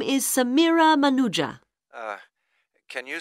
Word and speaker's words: Manuja: yes of course sorry my name is Samira manuja uh can you spell that please m a n u j a